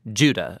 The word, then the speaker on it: Judah: let's watch this together the letter of jude or more accurately judah according to the pronunciation of his name both in greek and in hebrew judah was one of